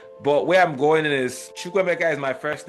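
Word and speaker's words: Chukwuemeka: No, Chukwemeka is Chukwemeka, right?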